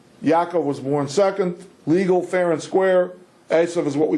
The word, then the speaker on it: Esav: Okay, for those of you who don't remember the whole narrative, these two fellows, Esav, you're pronouncing it Esau, that's a good English transliteration, let's use the Hebrew words.